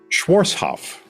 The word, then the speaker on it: Schwarzhoff: off what how do you say your name schwarzhoff schwarzhoff schwarzhoff and schwarzhoff yeah it's not